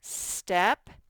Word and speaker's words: step: There's a tiny little T in there. You can barely hear it when I say it, but you have to spell it with a T or you will not get it correct for your challenge word.